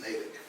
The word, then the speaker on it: Natick: like the town in Massachusetts, Natick.